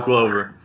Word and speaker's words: Glover: When was Glover's last fight, bro? What was that? When was Glover's last fight? Glover. It's Glover. It's Glover. Like glow, but Glover.